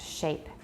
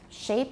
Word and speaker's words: shape: resonances um vocal trapped shape and watch shape everybody look at my mouth don't say shape it's shape yeah in Taiwan you